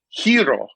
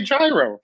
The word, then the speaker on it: gyro: like i know it's supposed to be hiro like that's the way you're supposed to say it but i'm gonna say gyro that's how i'm gonna say it wesley well sorry mr